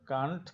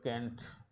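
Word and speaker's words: can't: উচ্চারণ কান্ট কিংবা ক্যান্ট উভয়ই সঠিক। ব্রিটিশ ইংলিশে কান্ট এবং আমেরিকান ইংলিশে ক্যান্ট।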